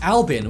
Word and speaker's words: Albin: the name written out the name was actually going to be pronounced Albin which is a pretty normal name in Sweden so in response the